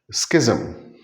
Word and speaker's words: schism: S C H I SM. It means the great divide, the great split. But we pronounce it as schism. SKI.